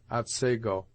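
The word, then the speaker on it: Otsego: as they are pronounced thus the scene of this tale is spelt atsigo and is properly pronounced at sago the liquids of the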